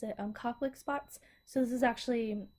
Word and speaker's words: Koplik: you also get these I think you pronounce it Koplicks. I believe that's how you pronounce it. Koplik spots.